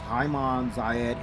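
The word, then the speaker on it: عام زايد: You also see the Arabic inscripted writing, which means year of Zayed, which actually is pronounced as Hayman Zayed in the Arabic language.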